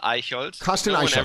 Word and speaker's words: Aichholz: German okay so yeah my name is C aold okay very good now I'll go into the